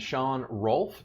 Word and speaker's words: Shon Rolfe: Today I've got Todd Olson and Shon Rolfe. Did I pronounce that correctly, guys?